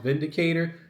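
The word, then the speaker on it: Windicator: picked up the EA Vindicator it's with a W but it's pronounced Vindicator and this is in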